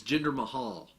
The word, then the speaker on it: Jinder Mahal: That was how Kurt Angle pronounced it. It's Jinder Mahal, and as Paul Heyman would later pronounce it.